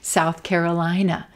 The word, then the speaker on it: South Carolina: South Carolina, Carolina. South Carolina, white tie, South Carolina. Again, not emphasizing that directional word south, but emphasizing Carolina and our white tie vowel.